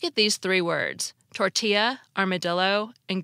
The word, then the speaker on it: armadillo: these three words tortilla armadillo and Guillotine we pronounced the two L's in tortilla like a y as they are in Spanish yet in armadillo we pronounce them like an L now let's consider Guillotine